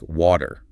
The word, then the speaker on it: water: to hear something like water. The T softens into a D sound, and the R at the end is pronounced. Water, yeah, it all kind of flows together.